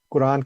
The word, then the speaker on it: قرآن: لیتے ہیں تو ہم قرآن کہتے ہیں، قرآن مجید۔ یہ اصل میں ہے قرآن، تو رے ساکن ہے اور پھر الف مد ہے، الف مد آ، قرآن۔ تو یہ قرآن غلط